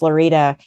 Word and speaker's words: Lorida: I was like that just dropped the f in Florida I was like no really it's lorida Florida so then for